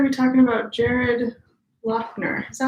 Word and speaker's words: Loughner: It's like it stops there. Loughner. Who knows? Yeah, it's a silent H. Loughner.